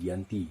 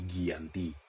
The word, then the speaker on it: Giyanti: perjanjian itu dialah ditandatangani yaitu Desa Janti yang dalam pelafalan Belanda menjadi Giyanti yang sekarang tempat tersebut